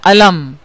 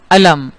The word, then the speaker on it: علم: ایک اور لفظ ہے علم، عین لام میم. اور کچھ دیر پہلے دکھ، غم، رنج کے لیے ہم نے دیکھا تھا لفظ ہے علم. تو آپ نے دیکھا تلفظ دونوں کا ایک ہی ہے، مگر الف سے جو